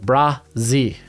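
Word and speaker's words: Bresee: That's how it's pronounced. Brazee. So Bryan Brazee out of Clemson, former 5-star.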